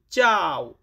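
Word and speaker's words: ciao: যেমন চাও। ইতালিয়ান শব্দ চাও মানে হচ্ছে হ্যালো।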